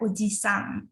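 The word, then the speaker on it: おじさん: Karena di Jepang itu banyak kosakata atau kotobanya itu dia pengucapannya hampir sama, tapi yang membedakan adalah vokalnya. Seperti itu. Nah, di sini ada oji-sang, ini paman.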